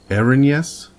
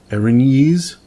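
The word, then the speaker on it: Erinyes: the ones that I've heard people pronounce multitude of different ways it's the arena yays Erin yes Erin ease it's out of the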